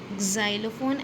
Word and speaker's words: xylophone: Rabbit, snowman, tree, umbrella, vase, watch, xylophone. Actually, if you're teaching phonetically, then this won't be the correct sound because it's making z sound.